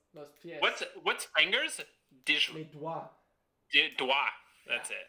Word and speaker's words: doigts: Les doigts. Doigt. That's it. There's a silent G in there for everyone.